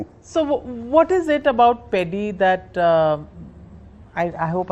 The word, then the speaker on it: Peddi: So, what is it about Peddi that uh I I hope I'm pronouncing it right. Peddi, yeah.